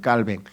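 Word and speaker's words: Calvin: 절대 주권을 주장하는 칼빈이라고 칼빈은 영어식 발음이고요. 그 사람들은 불로 왜냐면 스위스 사람이니까 불로 해서 깔뱅이라고 합니다. 깔뱅.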